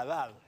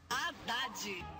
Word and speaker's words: Haddad: ha declarado que el partido debería apoyar a Haddad en la segunda vuelta, así que lo más